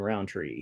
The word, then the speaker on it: Rountree: It is Josh_Rountree, and there is no D in Rountree. No D in the Rountree. Like Roundtree, but without a D.